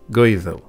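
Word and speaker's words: Goídil: Kings they were all gales pronounced in Old Gaelic goethal and they spoke a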